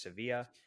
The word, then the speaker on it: Sevilla: Looks like it looks like Seville, but I know it's a Spanish word, so I'm going to assume that it's Sevilla. But anyway, so we're looking